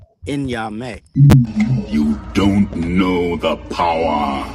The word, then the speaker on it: Nyame: I can't pronounce it. You talking about me? Yes, sir. Nyame. Nyame.